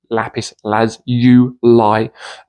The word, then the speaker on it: lapis lazuli: first of all there's about 18 perfectly acceptable pronunciations for lapis lazuli two lapis lazuli lapis Laz you lie is considered is generally considered to be the